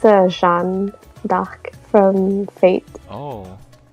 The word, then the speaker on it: Jeanne d'Arc: But yeah, in French it's like Jeanne d'Arc.